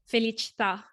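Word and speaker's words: felicità: accented a things like felicita these words have the accent right on the last last syllable that final a yeah i don't know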